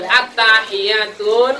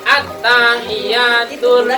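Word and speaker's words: التحيات: Jadi kadang banyak yang baca itu at-tahiyyatun. Ini salah ya.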